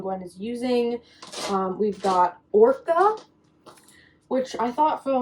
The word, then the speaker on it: Orca: We've got Orca, which I thought for the longest time her name was Okra, but it is Orca, like the whale, just not spelled that way.